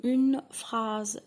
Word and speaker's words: phrase: On dit une phrase. Et while you're talking French, there is no R, okay? You say it like R.